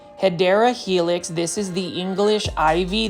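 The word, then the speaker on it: Hedera helix: And then you can see right over here, we've got a heedra helix or the correct way to say it is hideera helix.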